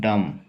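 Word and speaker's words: dumb: डम, तो क्या डम बोलेंगे? नहीं, सिर्फ डम, सिर्फ डम बोलना, इंग्लिश में भी डम।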